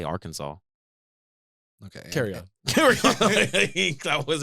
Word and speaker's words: Arkansas: No one questions why Arkansas is spelled like Arkansas, but they say Arkansas.